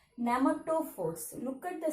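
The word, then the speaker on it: pneumatophores: See, the letter first P letter is silent letter. Okay, silent letter. Nematophores.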